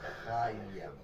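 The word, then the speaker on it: Haim: Soy Hayam Saban y se pronuncia Hayam.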